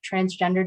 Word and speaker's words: transgender: please to note that transgender does not have an ed at the end it's often mispronounced um okay so